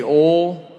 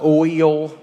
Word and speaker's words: oil: O I say oil. Super southern one. Uh oil. I don't even know how to say it like out to y'all. Oil. O I L. Yeah. I go motor oil like tinfull.